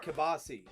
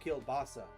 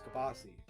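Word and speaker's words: kielbasa: they like they like uh and also it's pronounced kabasi. It's not kilbasa. It's kabasi.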